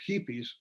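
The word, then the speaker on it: jipis: A feature story with pictures documented the presence of hippies right here in the capital city of the state of Chihuahua. I smiled at the phonetic Spanish spelling for hippies. It's spelled J-I-P-I-S, hippies, J-I-P-I-S in Spanish.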